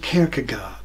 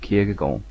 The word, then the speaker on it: Kierkegaard: Now, any Danes of you amongst hearing me say his name will be throwing things at the screen by now because I am not pronouncing the name correctly. I know, so here is a pronunciation provided by Wikipedia.